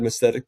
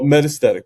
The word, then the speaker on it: metastatic: Um she had mythetic breast cancer and oh metastatic breast cancer. I'm sorry I keep on mispronouncing it.